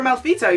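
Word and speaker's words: Malfetto: hold on a minute malito that's how you pronounce it they are like you know if you're a malito you need to die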